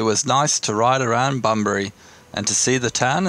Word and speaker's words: Bunbury: What do you mean? It's Bunbury. We're going to Bunbury Farmers Market. Is that how you pronounce it? Yes.